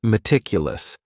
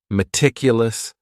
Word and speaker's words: meticulous: And this word has four syllables. And the stress is on that second syllable. Meticulous. Meticulous. That first syllable also has that schwa, that a sound, that reduced vowel sound.